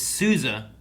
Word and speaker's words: Sousa: keep pronouncing souza's name the emphasis on the second s throws me off like everyone involved just